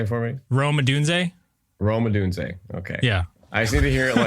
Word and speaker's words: Rome Odunze: Brando's brand, as well as technology failures, is mispronouncing last names. I'm sorry. Can you say it for me? Rome Odunze? Rome Odunze.